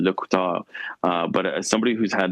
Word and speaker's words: LeCouteur: But I appreciate you noticing that, because I do my darndest as somebody who's got a last name that I anglicize, because in French it's actually Le Couteur.